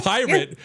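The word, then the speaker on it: PyRIT: why I like cuz it's called pirate because it's like a red team like pirate That's how I remember it I I picture literally pirates with hats It's this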